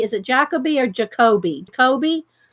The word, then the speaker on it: Jacobi: Jacoby.